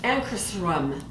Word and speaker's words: Ankarsrum: is made in sweden it is pronounced anchors rum or close to that it is of course swedish anchor srum and so